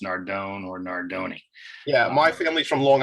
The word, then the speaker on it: Nardone: might change my wardrobe later on but nardoni which i appreciate you pronouncing it because i was going to go nardone so when you heard you say nordoni i